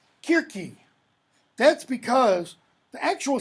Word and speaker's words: Kirke: The C is a hard k. That's why it's Cyclops and Kirke, etc.